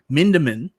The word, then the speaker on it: Mindeman: Then if it fails, exactly what Paul said, Paul Mindeman, am I saying it right this time? Leave the R off and you're fine.